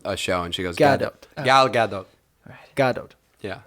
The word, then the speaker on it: Gadot: Godot is fine. The script Gadot. is just like, huh? Gadot. Oh, you pronounce the T?